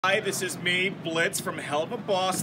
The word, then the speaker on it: Blitzo: Hi, this is me, Blitz, from Helluva Boss. The O is silent, alright?